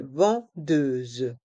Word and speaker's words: vendeuse: Une vendeuse. Ici, on a le même son. Par contre, le S est entre deux voyelles, donc il se prononce ze.